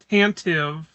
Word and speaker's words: Tantive: Tantive tan brown and then tive rhymes with hive.